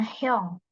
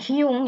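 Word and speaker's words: 형: tapi kalau kakak laki-laki dipanggilnya hong hong bukan Hung ya tapi Hong H kita akan bahas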